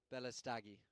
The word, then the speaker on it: Balastegui: Chris Mackenzie and Francisco Balastegui. So I've got my pronunciation practicing here. It's Balastegui.